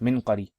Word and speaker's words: المنقري: And المنقري بسكون الميم وسكون النون أو بكسر الميم وسكون النون وفتح القاف منقري.